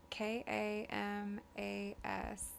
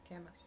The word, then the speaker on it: Kamas: How do you pronounce K A M A S Utah? Camas Kamas. It's actually Francis, which is like right outside of Kamas. Camas. Camas. Oh, yeah.